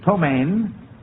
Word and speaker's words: ptomaine: The first one is ptomaine. Van? Ptomaine. That's right. It can also be spelled without the E, so you're still correct.